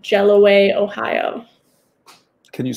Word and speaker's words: Jelloway: in a place called jelloway ohio can you spell that yes it's jello like the dessert way w-a-y yeah okay are there